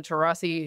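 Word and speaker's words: Taurasi: the WNBA now I believe somewhat famously Diana terasi who is one of perhaps the most is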